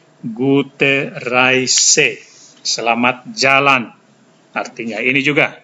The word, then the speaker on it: Gute Reise: Ini cara bacanya Gute Reise. EI dibaca I, Gute Reise.